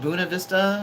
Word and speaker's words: Buena Vista: spelled Buena Vista and when I first learned it was called Buna Vista and you could have blown my mind but uh there's a lot of uh places in Colorado that are pronounced far differently than what you would think when you see them spelled out especially when you consider